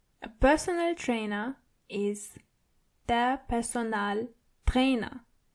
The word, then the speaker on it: Personaltrainer: A personal trainer is der Personaltrainer. So it's similar, but you have to roll your R one more time. Der Personaltrainer. And the A in personal is more obvious than the English version. Personal.